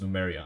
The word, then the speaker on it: Lemuria: Yeah, one of the worlds that Kanged merged together is it's spelled Lemuria, but it's pronounced Numeria, I think. I don't know why. And yeah, it's the kind of like an underwater city.